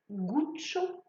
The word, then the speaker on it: Gucci: est en fait le nom de son fondateur guccio gucci witschi il y à 2 c est